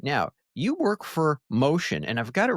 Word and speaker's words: Mocean: And we got to say that Motion is spelled Mocean. So Correct. not the typical way you'd spell motion as in like moving.